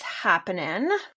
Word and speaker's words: Haapanen: My company's name is Performance is Haapanen. So I was trying to be real clever, but my last name is spelled very Finnishly.